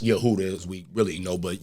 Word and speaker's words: Yehuda: you know, which is pronounced Yehuda, as we really know.